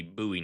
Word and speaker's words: Bowie: Well, as a Southerner, I do feel the need to correct you and and say that that would actually be buoy knife. As a not southerner, I would correct you and have to say that is a buoie knife.